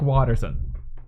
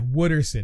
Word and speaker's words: Wooderson: saying would her son it sounds like Watterson Watterson would like then like yeah Wooderson no not Bill Watterson damn it I